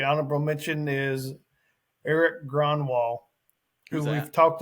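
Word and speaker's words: Grönwall: he is Gronwall, Gronwall.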